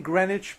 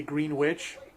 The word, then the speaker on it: Greenwich: published murder in greenwich i'm saying greenwich because everybody would make fun of me if i say green witch but why do they